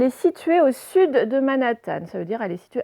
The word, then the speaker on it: Manhattan: au sud de manas alors vous avez peut-être lu tant manathan mais en fait on va là prononcé à l'américaine manhattan c'est un quartier de new york qui s'appelle manhattan bon si vous avez